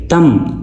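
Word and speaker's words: thumb: तम तम यहां पे ये बी साइलेंट है।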